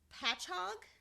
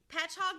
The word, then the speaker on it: Patchogue: and attended, stick with me, you guys, it's Patchogue, Medford. I had to look up a YouTube video to make sure I was pronouncing this correctly. I but butcher names anyway, so yeah. Sounds good to me. Patchogue Medford High School, where he became president of